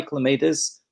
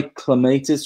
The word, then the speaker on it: clematis: Clematis is the pronunciation of the man's name that it's named after. So the really hardcore gardeners say clematis, but clematis, we all know what you're talking about.